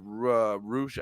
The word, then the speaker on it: Rush: and I'm not saying MJF had the match that he had with Roosh. I think they're saying it's Roosh. It's spelled like Rush or whatever.